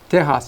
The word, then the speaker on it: Tejas: And what's unique also too is the word Tejano means, for example, in Spanish, Texas is pronounced Tejas in Spanish.